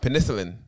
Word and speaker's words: penicillin: Getting a what shot? Penicillin. Penicillin. Yeah. Penicillin. You put shot. The wrong emphasis on the wrong.